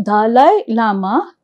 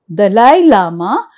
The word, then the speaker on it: Dalai Lama: So, Dalai Lama, Dalai Lama is a word should be pronounced and we should spell it also correct.